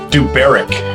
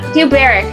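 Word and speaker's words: Dubhberach: Duberic. Duberic. Okay, you know what? Spell that so that people know how hard that was for me.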